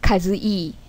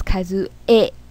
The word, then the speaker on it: Kazue: But in Japanese, we pronounce it E. For example, my name is Kazue, right? It's not Kazue. My name is Kazue. And it's in typing Japanese is right? My name is Kazue, not Kazui.